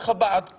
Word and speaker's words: Chabad: You got the Chabad close. Chabad. Chabad. Chabad. All right. Hanukkah. Am I pronouncing it correct?